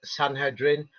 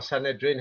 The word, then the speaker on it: Sanhedrin: Here is from the Talmud Sanhedrin, or Sanhedrin, however you want to pronounce it, 57a.